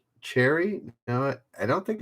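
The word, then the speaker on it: Chérie: Cherry? No, I don't think it's cherry, is it? My Cherry Amore or My Sherry Amore? I would think it's Sherry, but it is a CH. So Denjoga, Here Fan, and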